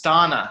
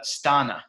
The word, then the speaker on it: Stana: Guys, her name is pronounced Stana, like Donna, but Stana.